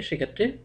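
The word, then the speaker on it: সূক্ষ্ম: লক্ষী লক্ষণ প্রতিটি ক্ষেত্রে ম ফলার উচ্চারণটি বাদ গিয়েছে বটে তবে শেষে একটি আনুনাসিক স্বর যুক্ত হয়েছে তো আমাদের আজকের আলোচনা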